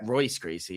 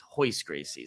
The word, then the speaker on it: Royce Gracie: Royce Gracie. It's Hoist Gracie.